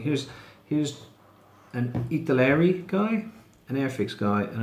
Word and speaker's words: Italeri: Airfix guy, and another Italeri guy. Now this Italeri, that's the you brand. say Italy in a weird accent. Yeah, you sound Italian when you say it, if you say it correctly.